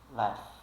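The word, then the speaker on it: laughed: a a terceira palavra embora a gente escreva laug ou laug laug a gente não fala laug ou qualquer coisa desse tipo a gente fala la left left left e left no passado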